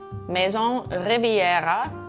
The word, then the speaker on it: Maison Riviera: This is Maison Riviera, that's how it's pronounced.